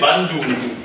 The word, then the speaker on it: Bandundu: Le Bandundu, prononcé Bandundu.